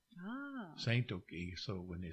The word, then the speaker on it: Tsatoke: That's how you say it in Kiowa. Ah. Tsatoke.